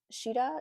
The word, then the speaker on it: Sheta: it it's by Sam She uh sheta is how you pronounce her name so Sam sheeta if